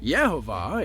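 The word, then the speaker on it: Yhwach: If you're like me, you've had trouble trying to pronounce this guy's name for a long time, but here it is. Yehovah is the father of the Quincy and the son of the Soul King.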